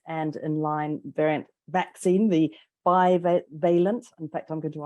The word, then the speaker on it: bivalent: First of all, how do you pronounce it? Bivalent vaccine. Bivalent.